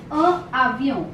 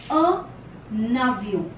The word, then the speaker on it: un avion: Together it is pronounced as, there's a sound of N that comes in between these two words. A avion. It is not pronounced like this. A avion. No. It is a navion. An avion.